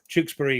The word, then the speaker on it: Tewkesbury: Yes, we had to educate a few people how to say the thing, but Tewkesbury in Gloucestershire.